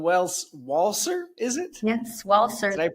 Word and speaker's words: Walcer: Mrs Carrie Ellen Wells waler is it yes waler did I pronounce that right Carrie thank you for joining